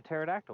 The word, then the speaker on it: pterodactyl: time man you're like a pterodactyl we didn't hear anything silent p yeah you can you